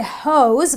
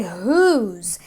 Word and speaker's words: whose: I don't say hose, but I say whose because of the O, which brings the oo sound.